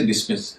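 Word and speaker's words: dismiss: आधार पर उसका उच्चारण नहीं बदलेंगे वहा उनका उच्चारण हमेशा स ही होगा जैसे डिस्मिस डिस्मिस में एस के बाद एम आ रहा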